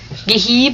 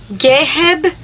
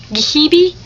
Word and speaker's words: Geheb: maiden name, even though people always get it wrong. Geheb, because it's spelled G-E-H-E-B. So people are like, Geheb? Geheb? No. Gehebi?